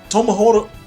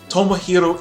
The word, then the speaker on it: Tomohiro: a takeshi a murashima hell yeah no tomoho tomohoro tomohiro ishii is not in this game why can